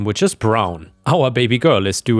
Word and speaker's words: Braun: She said why not, and I reminded her of the historical figure Eva Braun, pronounced Brown, which is not quite correct, but anyway, wife of